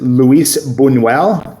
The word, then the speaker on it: Luis Buñuel: Okay, so our first director is Luis Buñuel. Again, the Spanish pronunciation, please, can come to me for that.